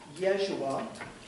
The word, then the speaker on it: Yeshua: command the historical Jesus Jesus or Yeshua which is the correct pronunciation of his name in Arabic the son of Joseph